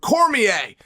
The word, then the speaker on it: Cormier: APPARENTLY, HE'S LIKE AN EQUAL PARTNER IN IT, WHICH I DIDN'T KNOW, but thank you for giving his it's pronounced Cormier. Dan Cormier.